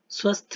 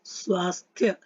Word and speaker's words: स्वास्थ्य: स्वस्थ नहीं होता है, क्या होता है? स्वास्थ्य।